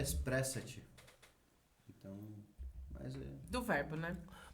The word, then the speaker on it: Espressate: Expressat. @expressate. O- Depois eu mando os royalties, tá? De utilização. A pronúncia certa é Espressate.